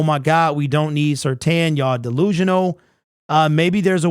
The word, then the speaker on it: Surtain: Okay, so trade 2 first for Patrick Surtain. I don't know why is it Tane, but it's pronounced Tan.